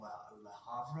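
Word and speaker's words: Le Havre: communist Port City called La laav I think is how you pronounce it my father-in-law who served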